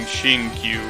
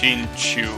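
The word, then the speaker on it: Xingqiu: Yeah, especially if you're planning on leveling Shinkyu. Well, I think his name is pronounced Shinchu.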